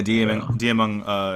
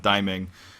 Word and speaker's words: Diamond: Yeah, Diamond, if you, or as they pronounce his name at BlizzCon, Diming, is going to be playing tomorrow.